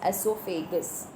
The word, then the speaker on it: oesophagus: Now your O is silent. You're going to pronounce it as esophagus.